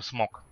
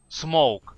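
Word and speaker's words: Smoke: Не, сначала мы смотрим смок. Смоук. Вот меня тоже научили правильно говорить. Смоук через букву у.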